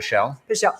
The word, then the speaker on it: Pelle: make it happen and how do you say Brian's last name is Brian Pelle Pelle so Brian's actually coming